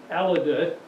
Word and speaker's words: Alida: General John Armstrong and Alida Livingston. I think I've got her first name pronounced. Wint Aldrich and I have gone back and forth on how that's supposed. He says, no, it's Alida, Mike.